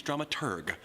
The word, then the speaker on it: dramaturg: The correct pronunciation is dramaturg, the researcher of the plays and operas being put on.